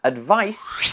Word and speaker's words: advice: similar ways on pronunciation advice with a c e has a firm S sound at the end whereas advise se has